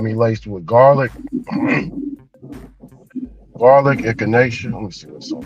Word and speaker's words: echinacea: And, she got me laced with garlic, garlic, echinacea. Let me see what's on it. It looks like echinacea. You know echinacea, right, Ron?